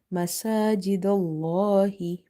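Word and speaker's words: مساجد الله: Whenever you see before the letter lam in the word Allah, there is a dhamma or fatha, so you will make this lam heavy. That's why we are reading masajidallahi. If I read masajidallahi, it will be wrong.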